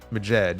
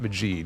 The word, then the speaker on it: Majed: I'm going to say Majed and not Majid, because I think that would be an extra E, but Majed, thank you for the $6.